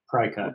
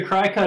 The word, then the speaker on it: Cricut: There's a whole thing if you're into using, is it, I don't know how it's pronounced, Cricut, like the paper cutting, wood cutting tool, Cry cut.